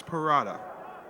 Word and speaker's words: porrada: What is parada? Porrada. I don't know what it is. Oh, okay. Oh, you gotta say it like that? Parada. Yeah, because it's double R's. You gotta roll your R's.